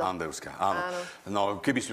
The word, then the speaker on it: Andevská: Správne som to povedal, tvrdo, áno, áno, tvrdo. pretože tam sú predkovia, teda otec. Ktorý pochádza z Macedónska. Tak tam je An... Takže tam sa vyslo- vyslovuje tvrdo. Andevská, áno.